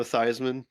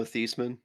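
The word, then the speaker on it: Theismann: It's the uh It's the Joe Joe Thyman was originally Joe Thman, but he changed it to rhyme with Heisman.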